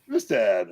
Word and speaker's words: Kvistad: Kvistad? Kvistad.